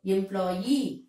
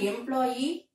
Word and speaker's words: employee: So, employee. It's not employee, payee, absentee. It is employee, payee, absentee. These syllables to be stressed. Be careful about it.